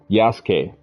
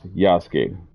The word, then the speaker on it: Yasuke: This is my first time playing as um Yasuke. I was saying Yasuk, but I believe it's pronounced Yasuke.